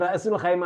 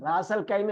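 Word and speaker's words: رأس الخيمة: അതാണ് റഅസുൽ ഖൈമ. അതാണ് സ്ഥലത്തിന്റെ പേര്. റാസൽ ഖൈമ അല്ല.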